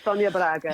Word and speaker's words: Sonia Braga: Is that how her name is pronounced? Correct, Sonia Braga.